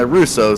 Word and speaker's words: Russo: Russo I do apologize so I tell you it's like that French pronunciation I do apologize and I Russo so there you have